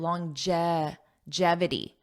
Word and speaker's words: longevity: let's talk about longevity notice that pronunciation long J it has a j sound longevity jevity longevity longevity this means lasting for